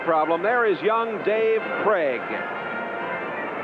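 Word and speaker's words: Krieg: There is young Dave Craig. K R I E G, but pronounced Craig.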